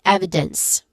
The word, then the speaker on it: evidence: And then evidence, starting with ev, the stressed syllable, which has a short E sound. And then followed by a short E sound. And lastly, dense, which just also has a short E sound. And it ends with a hissing sound here. So we get evidence.